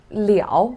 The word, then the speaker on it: 了: with the sentence look just now i said liao when you pronounce as leo it is called because it's